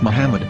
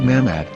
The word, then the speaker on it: Muhammad: Muslim prophet, or as Mamad with no A after the H. According to Ben Yehuda's Hebrew English Dictionary, it is correctly pronounced as Muhammad, not Mamad.